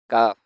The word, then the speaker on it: ك: Kaf has the same articulation point as qaf, but qaf is a thick sound and kaf is a thin sound.